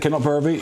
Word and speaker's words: Kinlochbervie: years in the Inverness region, and I'll probably pronounce it wrong, but it was a small place called Kinlochbervie. That's it, Kinlochbervie, yep.